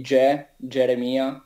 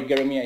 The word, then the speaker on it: Geremia: Yeah, I mean, usually in German it's Geremia. In Italy we say Geremia. So we have the strong G, but don't worry, Geremia is fine.